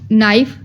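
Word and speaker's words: knife: silent letter नहीं है के में हम लोग नाइफ के साइलेंट है के एन आई एफ ई नाइफ यहां पर अब के साइलेंट है लिखने में के जरूर आएगा लेकिन प्रोनाउंस में नहीं होगा एल एल में साइलेंट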